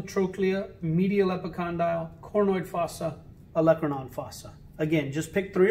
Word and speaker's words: olecranon: the olecranon fossa some people like to say olacranon and you could say it that way it helps you spell it correct but it's pronounced olecranon fossa okay so one last review head deltoid